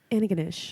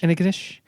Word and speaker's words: Antigonish: It's pronounced Antigonish. Antigonish.